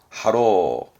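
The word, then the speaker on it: 波浪: 대표적인 부분이 이제 파랑, 발음은 하로.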